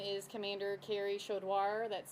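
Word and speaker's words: Chaudoir: My name is Commander Carrie Shodoir. That's spelled C A R E Y C H A U D O I R.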